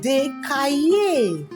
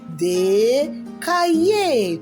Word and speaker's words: des cahiers: Des cahiers.